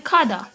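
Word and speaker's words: 가다: यहाँ पे आपको रोमनाइजेशन में कादा दिख रहा होगा, बट ये कादा नहीं होता। जब इसका प्रोनाउंसिएशन हम करते हैं तो हम बोलते हैं खादा।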